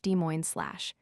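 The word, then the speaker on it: Des Moines: Thus SL Desmo SL is SL Demo SL Tear Oat is Terry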